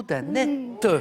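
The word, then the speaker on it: Anet: Le château d'Annette. A-N-E-T avec un T qui se prononce, oui.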